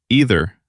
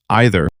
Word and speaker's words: either: 2 ways to say it. Most Americans say either. Most British speakers say either. Both are correct. Both are understood everywhere. Pick whichever feels natural.